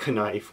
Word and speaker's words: knife: Never mind the fact that sometimes there's words like knife where the K is silent, or Tupac where the 2 is a number.